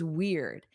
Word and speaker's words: weird: So notice the pronunciation here. Weird. Eared. So the end of the word sounds like ear. Ear. And then you put a D, eared. And then it starts with a W, which you need closed lips.